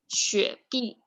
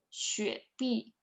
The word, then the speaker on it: 雪碧: Do you know how to pronounce it? So let's do it one by one. Sprite first. 雪碧. You can read after me. 雪碧.